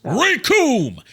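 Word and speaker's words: Recoome: The name's Rikum. It rhymes with doom, and you're gonna be hurting all too soon.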